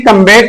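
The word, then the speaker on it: combat: बाद बी आए तो बी क्या हो जाएगा, साइलेंट नहीं होगा। बल्कि फॉर एग्जांपल कंबाइन है, कम्बेट है और सब्ट्रैक्ट है।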